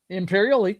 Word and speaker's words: Imperioli: I don't know how to say it, Imperioli.